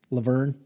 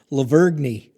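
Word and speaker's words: La Vergne: uh madness baseball at is it laverne or laverne tennessee laverne okay the g is silent folks middle tennessee how's that levergny there you go i'm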